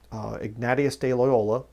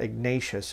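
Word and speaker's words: Ignacio de Loyola: thing in the 1540s igneous de loyola that's the correct way to say it by the way - he was Spanish so it's not Ignatius it's a nati as'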